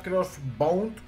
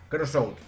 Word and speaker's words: Crossout: El juego se llama Crossbound, creo que es que se dice. Crossout.